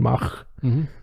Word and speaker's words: Mach: There's an American pronunciation where they go long on the A. Right. Which is what I was going for there. There's the one I did last week was the more European Mach.